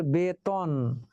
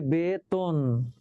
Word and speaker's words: বেতন: বেতন, দেখো বেতন, আসলে তো ত, তাহলে উচ্চারিত হওয়ার কথা ছিল বেতন, কিন্তু না, উচ্চারিত হচ্ছে বেতন। হ্যাঁ, তটা তো হয়ে গেল। কেন তো হয়ে গেল? কারণ তার আগে বয়ের সঙ্গে কি আছে? একার আছে।